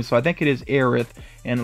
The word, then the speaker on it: Aerith: should do cloud also i think her name is aerith even though sometimes i see it written as eris but i think that's